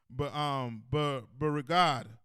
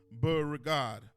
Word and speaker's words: Beauregard: They say on February 15, 1865, Confederate General PGT Beauregard, right, gave the order for them to evacuate the army, for the military to evacuate Charleston, South Carolina.